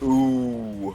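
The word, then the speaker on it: OOO: Again, we are O's spelt O-O-O. I would just call it ooh.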